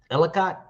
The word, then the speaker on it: Ellicott: And how far is how do you say it? Etiquette, New York, Ellicott.